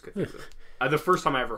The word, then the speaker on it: Cthulhu: Yeah, or if we're pronouncing that right. I'm pretty sure it's Cthulhu.